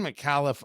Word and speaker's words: Micallef: about malli I'd seen malli around I didn't know that was actually how you pronounce it m i c a l l e f i mean admittedly that's